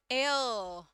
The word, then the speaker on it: heir: अब यहाँ पर इसका प्रोनाउंसिएशन हेयर की तरह नहीं किया जाता है. एच is silent हियर. ठीक है. एंड एयर, एयर कुछ इस प्रकार से इसका प्रोनाउंसिएशन होने वाला है, हवा वाला. एयर, एयर.